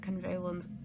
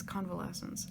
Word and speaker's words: convalescence: is helpful for prolonged convalescence is that the right way to pronounce that or is it convalent convalescence it's convalescence okay speeding up recovery